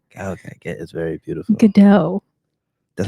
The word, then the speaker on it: Gadot: Gadot. That's how you say it? Yes. Good go? Gadot. Good though?